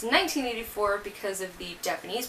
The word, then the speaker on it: 1Q84: choose 1q84 is that spelled but it's actually pronounced in 1984 because of the Japanese pronunciation by haruki murakami